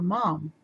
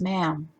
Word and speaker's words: ma'am: and asked why i kept calling her mom when she wasn't my mother so i learned that day that i should have been pronouncing it as ma'am after that she just